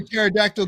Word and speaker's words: pterodactyl: was I hear a pterodactyl going to the bathroom why because the p is silent bye man this is